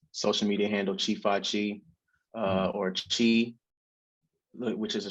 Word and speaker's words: Chifyechi: His name, he goes by Chifyechi. I believe I pronounced that correctly.